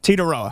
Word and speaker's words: Tetairoa: And I heard Titaroa over and over. Titaroa. So the I is silent. Yes, Titaroa.